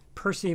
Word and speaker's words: Percy: So you mentioned Percy Mackay, and that's the last name is spelled M-A-C-K-A-Y-E.